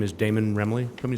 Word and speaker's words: Damon: hello good afternoon everyone um my name is damon remily can you spell that d-a-m-o-n and i work at station 85.